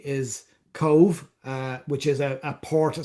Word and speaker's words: Cobh: Anyway, so there's A for Belfast, B for Cork or Cove. That's how we pronounce COBH, or D for Dublin.